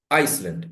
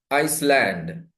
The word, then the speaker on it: Iceland: Ice, land. Iceland. It's not Iceland. Iceland.